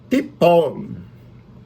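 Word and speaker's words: תפול: O verbo é tipol. Vamos pronunciar esse hebraico para direito, né? Ti nenhum, não tem ti nenhum no hebraico. É tipol. Tipol é a segunda pessoa do futuro, masculina, singular.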